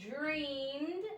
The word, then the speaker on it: dreamed: She dreamed, again, this is a D sound, of a garden full of flowers.